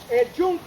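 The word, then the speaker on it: Yunque: that was a really amazing experience place is Jun but before it was named Jun the name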